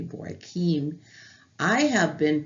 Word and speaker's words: Bauckham: We are actually studying from his commentary on the Word Biblical Commentary, Jude, 2 Peter, Richard Boykeem, and I have been saying Bauckham.